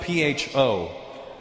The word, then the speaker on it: pho: It's spelled P-H-O. Pho. But it's not the way it's pronounced.